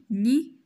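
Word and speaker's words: nid: لي زوف هما البيض، وهذا العش هو ان ني، ان ني، N avec I ني و دي ça ne prononce pas ما كنطقوهاش.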